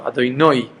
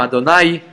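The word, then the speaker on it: אדני: We should know how to say correctly, or going Sfardim, Adonai, yeah, but to pronounce it like that with the dagesh on the nun.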